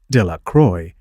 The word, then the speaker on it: Delacroix: Bobby and Harry Jones and Dickie Delacroix, the villagers pronounced this name, Delacroix, eventually made a great